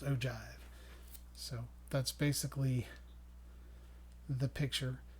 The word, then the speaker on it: ogive: it's called an ogive it looks like oh guys but it's pronounced ogive so that's basically the